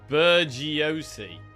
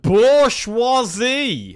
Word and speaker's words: bourgeoisie: It's pronounced bourgeois-y.